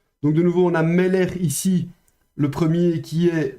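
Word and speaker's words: מֶלֶךְ: dans une leçon précédente, c'est le petit accent au-dessus du même, donc ça veut bien dire que l'accent tonique est sur la première syllabe, donc on prononcera meller.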